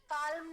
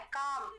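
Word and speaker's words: calm: काल्म नहीं बोलना है, काम। एल अगर एम से पहले आए तो एल साइलेंट होता है।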